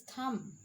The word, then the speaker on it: thumb: at here it is thumb b is silent in this sentence in